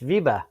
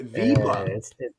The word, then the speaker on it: Wiebe: say your last name it's viba v see i would have butchered the living deal out of that viva it's german yeah oh now that